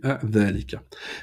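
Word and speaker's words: ذلك: c'est peut-être mieux d'employer dhalika. Dhalika, c'est comme hada. Il y a une prolongation qui n'est pas écrite, mais qui est prononcée.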